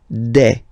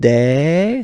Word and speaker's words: des: Okay, and then the plural form des. All right, here s, you pronounce it like e.